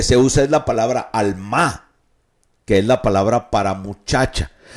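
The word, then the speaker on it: עלמה: Alma es la palabra como alma, pero con acento en la última A, es alma.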